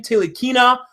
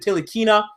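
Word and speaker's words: Ntilikina: Tilikina out of France. I think it's how you pronounce it. Tilikina. I think the N is silent.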